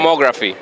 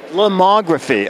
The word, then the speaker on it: Lomography: No, actually, we're here at how do you pronounce the name of the company? Lomography. Lomography, okay.